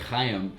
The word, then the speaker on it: Chaim: Call Chaim Schalk. Calling Chaim Schalk. Chaim Schalk. Well, my name is like actually pronounced like Chaim.